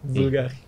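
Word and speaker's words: Bvlgari: Yang bacanya susah ya, Bulgari. Pakai V soalnya, kayak Republik.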